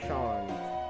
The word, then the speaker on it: Seam: The name's Seam, pronounced Sean.